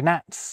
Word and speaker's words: gnat: And you can copy and paste everything I just said about silent kwords over to these silent gword too. We once had gnoing gnats and gnomes. Now, one word you could use to explain the loss of these c and g sounds is laziness.